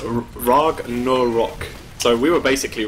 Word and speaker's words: Ragnarok: Okay, someone in chat said that it's pronounced Ragnarok. So we were basically right, but I think it's like there's more length to the word, I guess.